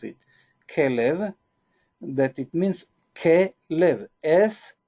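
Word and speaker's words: כלב: This is the way that we pronounce it. Kelev, that it means Kelev, as a heart.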